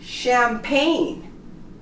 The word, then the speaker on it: champagne: Also, for G, all of these words that end in GN, the G is also silent, such as sign, foreign, design, resign, and how about champagne? We don't pronounce the G. Sign, foreign, design, resign, and champagne. You noticed? All of the words have GN next to each other, both consonants, and the G becomes silent.